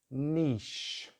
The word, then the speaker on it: niche: So in British English, niche, niche, one syllable word. It's a nice long vowel.